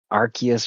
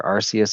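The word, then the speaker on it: Arceus: Archus or Arcus. I've heard it pronounced both ways and I don't think either of them are wrong or right.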